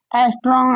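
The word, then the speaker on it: ångström: एस्ट्रॉन्ग इसको कहते हैं, क्या कहते हैं? एस्ट्रॉन्ग, ऐसे ही इसका उच्चारण होता है।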